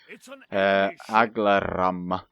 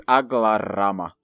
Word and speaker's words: Aglarama: Aglaram. No, I'm still saying it wrong. You know what? I'm just going to cut it out. It feels like there should be two M's, but it's Aglarama. Yeah, it doesn't sound to me right.